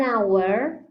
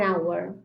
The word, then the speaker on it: hour: a vowel or in the case of an hour with a vowel sound an hour because the consonant age is not pronounced in the case of there is not